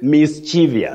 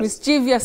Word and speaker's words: mischievous: all the time mischievous locally many people say mischievious mischievous we don't have such a word in English the word that we